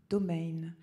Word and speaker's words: Domain: ce serait leur patronyme domain d'origine hugenot que l'on prononce en allemand comme le nom commun français domaine dont on mouillerait un peu le i et voici cheveux gris